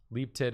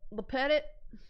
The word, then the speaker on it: Lepetit: Leaptit is one of the ways Julia's last name gets mispronounced. Leptit, Leaptit, Lepetit. Lepetit. Lepetit. It's not that hard. It's the beginning of like so many restaurants in this country.